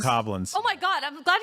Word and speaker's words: Bokoblin: I know it's canonically it's Bokoblins. Bokoblins.